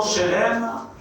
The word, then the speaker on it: shelem: Ce mot shelem, qui s'écrit S-H-E-L-E-M, à ne pas confondre avec shalom.